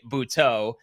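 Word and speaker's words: Butto: About what mentor and boutot can do for you. And by the way, it's a surprise of the season. So far. Jose Bhutto is the pronunciation.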